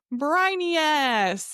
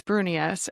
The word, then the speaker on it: Brunius: And for those of you guys who have not heard the pronunciation of my name, it's Brunius.